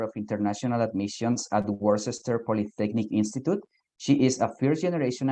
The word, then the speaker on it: Worcester Polytechnic Institute: easier for all of us but it is pronounced worcester polytechnic institute i know that's a difficult one to say